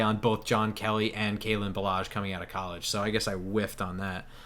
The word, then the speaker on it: Kalen Ballage: I can't pronounce his name. It's Kalen Ballage, yeah.